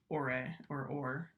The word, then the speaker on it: Orre: I think it's spelled O-R-R-E, the Ore region.